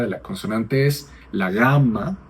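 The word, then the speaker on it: γάμμα: El nombre de la letra de la consonante es la gamma. Es como la g en español cuando es una velar sonora.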